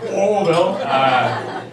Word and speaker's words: Louisville: You gotta say like you don't pronounce the S's. You gotta pronounce the punch in the stomach. You know, Louisville.